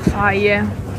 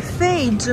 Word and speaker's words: Fage: Sapete, è bello trovare il faie, si pronuncia faie, che io a Jenna gli dicevo sempre il fage, ma io voglio il fage, lei faie, non capiva mai.